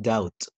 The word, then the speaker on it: doubt: نفس الكلام يا جماعة the same don't pronounce the letter B so like debt like doubt subtle okay طيب بالنسبة لحرف